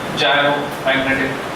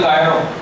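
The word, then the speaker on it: gyromagnetic: इट is called जायरोमैग्नेटिक ratio, G by R O। Pronunciation क्या है, जायरो। कुछ लोग बोलते गायरो, गायरो नहीं बोलना, जायरो, जायरोमैग्नेटिक रेशियो।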